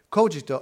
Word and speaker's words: Kogito: The canonical pronunciation, so to speak, it's cogito, like that.